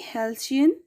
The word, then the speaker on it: halcyon: Pronunciation will be halcyon days.